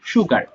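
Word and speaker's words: sugar: হ্যাঁ, এই যে দেখো, সুগার হবে কেমন, এটা সু হয়ে যাবে, আমরা সু বলি, বাট শুদ্ধটা হবে আসলে সুগার।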